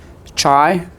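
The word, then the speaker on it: chi: So this thing here is chai. So that's how it's it's pronounced. Chai. chai square distribution you may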